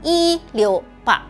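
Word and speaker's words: 一六八: another example is the number 168, pronounced "yi liu ba," similar to the phrase "yi liu fa" which means "good fortune".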